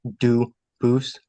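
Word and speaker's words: Dubois: get your name straight I know family with that the same exact spelling in American they do pronounce it dubis but you said you pronounce it duus as the original du Boose as the original French French yep very well du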